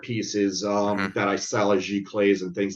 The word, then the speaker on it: giclée: How did you pronounce it? Giclée?